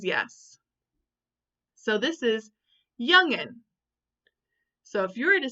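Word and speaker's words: jongen: young men in Dutch when J starts a word it has a Y sound right mister bulwark he says yes so this is youngin so if you were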